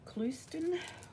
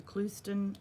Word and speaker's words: Clouston: Jennifer Clouston, I apologise to Jennifer for mispronouncing her name. Jennifer Clouston, and this book has